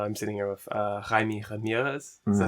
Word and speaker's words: Jaime Ramirez: are listening uh i'm sitting here with uh jaime ramirez is that how you pronounce it yeah jaime ramirez all right i'm glad um because i remember